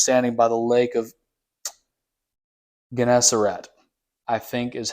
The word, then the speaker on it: Gennesaret: God, he was standing by the lake of Gennesaret, I think is how you say that, which is there, the Sea of Galilee.